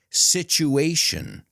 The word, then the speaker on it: situation: Remember, the T plus the U is ch. Nature. Future. Creature. Statue, situation.